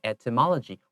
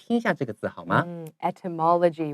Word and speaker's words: etymology: gender to t that just entomology you see much mama etymology one of my favorite bird it's spelled ET y M L oh gee why so anytime